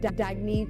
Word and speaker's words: Dagne: good you can live life intentionally oh it's pronounced dagne do dagy means new dawn it's a new